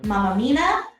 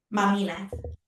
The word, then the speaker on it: Mamina: And our guest today is Mamina. No, I didn't say that right. How do you say your name? Mamina.